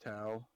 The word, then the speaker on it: Tau: And it's based around I think it's pronounced Tau.